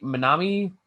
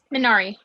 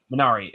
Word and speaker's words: Minari: Minami? I know I'm horribly butchering it. Minari. Minari.